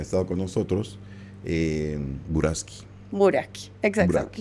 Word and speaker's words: Buraschi: Buraki, exacto. Kiara, con ch, pero se pronuncia con K.